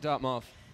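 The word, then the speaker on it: .mov: I pronounce it dot mov. Dot mov. But it's a dumb made-up word, so you can pronounce it any way you want.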